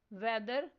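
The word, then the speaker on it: whether: Next word है वेदर। इसमें silent लेटर एच पर सर्कल करना है।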